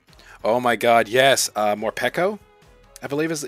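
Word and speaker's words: Morpeko: my god yes uh more pekko i believe is yeah more peco is how you say this but it's like hangry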